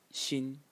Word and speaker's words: 心: And the bottom part of the character, which is this one, is pronounced 心 in the first tone, and it means heart.